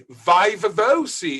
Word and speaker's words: viva voce: Vivavosi is how you pronounce Wiwa Woke, Latin Wiwa Woke in English. Now, there is no lamentation, and there shouldn't be a lamentation on your perspective. This is how you say it in English, Vivavosi. Of course, it's ridiculous that